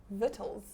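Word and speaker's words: victuals: So, the C is silent.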